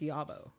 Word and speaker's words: Yobbo: Yobbo right? rhymes with doggo. Oh, Yobo. Yobo. Well, that's how I say it. I think it's Yabo.